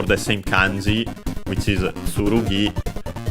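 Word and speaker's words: つるぎ: same kanji, which is tsurugi, accented, yes, accented on the last syllable, while ken is accented, so accented on the ke, ken.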